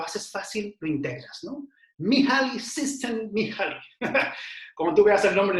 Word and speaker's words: Mihaly Csikszentmihalyi: Mihaly Csikszentmihalyi. Como tú veas el nombre en el libro vas a decir, esto es impronunciable, pero no.